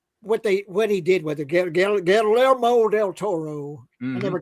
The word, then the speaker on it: Guillermo: So it's Guillermo.